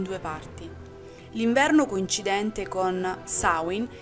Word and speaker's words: Samhain: Tutti noi la conosciamo come Samhain, ma in realtà la pronuncia corretta è Samhain, il cosiddetto capodanno celtico.